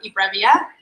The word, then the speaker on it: eBrevia: So Ned is from eBrevia.